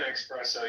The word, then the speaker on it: espresso: If you're if you're taking an espresso, you might as well just drink a caffeine. Exactly. Mohan, you're smart enough to know that it's spelled E SS, not ex I didn't ask you your opinion.